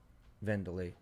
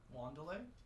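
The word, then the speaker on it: Wanderlei: Venderlay. Venderly with a W. W. It's with a W. Wanderlay. Yeah. Wanderlay is just is how you spell it kind of.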